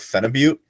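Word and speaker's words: phenibut: Um you heard of Fenibute? I've not. Fenut's a fun one. It's a very weird actually. I think it's pronounced fenibut and I've been saying it wrong the whole time because it's like Russian.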